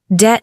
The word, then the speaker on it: debt: Two, debt noun spelling dt. The B is silent.